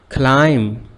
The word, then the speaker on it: climb: Climb, silent P sound.